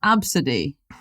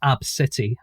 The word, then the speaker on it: Abcde: lot of things to unpick here so it's pronounced absidy there's a there's actually a couple of pronunciations but that is one of them yeah and sometimes um pronounced AB city which is what I'm going to call my